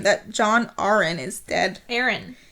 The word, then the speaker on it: Arryn: Aaron. Is it Aaron? Yes, that's how they say it in the show. John Aaron.